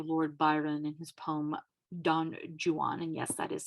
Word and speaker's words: Don Juan: Now, the Romantics, mostly by the way of Lord Byron in his poem Don Juan, and yes, that is how it's pronounced, alas, attempt to revive the rake as a figure.